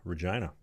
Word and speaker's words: Regina: next question is coming in from the Grozman out in the beautiful city that rhymes with fun, Regina.